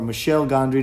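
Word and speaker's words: Michel Gondry: uh gondry uh or michelle gondry depending on how you pronounce it it was starring of course jim could have he's a french guy he's a french guy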